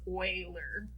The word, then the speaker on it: Euler: so euler it is german it is not pronounced euler it's euler and we're going to talk about euler path